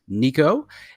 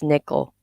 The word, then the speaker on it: Nico: a very special guest nico a cosmetic quadrilateral limiting patient nico welcome to the show okay actually you got my name wrong it's nickel oh it's nico yeah